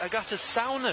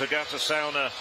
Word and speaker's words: Agate Caune: athlete in the final this is actually pronounced Agata sauna she said okay in that case I will amend my pronunciation and it's Agatha sauna running away from the